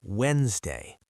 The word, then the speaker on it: Wednesday: Most people say Wednesday. The D is silent, the first E is silent.